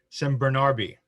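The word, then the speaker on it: San Bernabe: And James at Diora in San Bernarbe, not Bernabe. That was the Portuguese pronunciation before.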